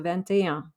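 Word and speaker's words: vingt et un: means and and there are no hyphens so ventaya then we go to taunt which is 30.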